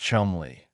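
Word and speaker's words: Cholmondeley: And Charles Chumley, pronounced Chumley, a tall, gangly, eccentric RAF officer with a mustache and a mind that worked in strange corkcrew loops.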